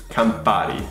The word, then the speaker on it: Campari: It's Campari.